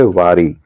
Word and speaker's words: वारी: ध्वनि जो है वह सुनाई नहीं दे रही है। तो हम इसको सीधा पढ़ेंगे वारी और जब हम इसको लिखेंगे तो इस तरह से लेकिन जब हम इसको श्रवण बोलेंगे उच्चारण करेंगे ध्वनि करेंगे तो हम इसमें क्या है कि वारी शब्द ही पढ़ना वारी शब्द ही पढ़ना पड़ेगा। तो वारी जो शब्द है वारी पढ़ना पड़ेगा।